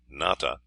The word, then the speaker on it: Nata: The name of the hero of the Aztec story, Nata, pronounced with the broad sound of the A, is not far from the name of Noah or Noey.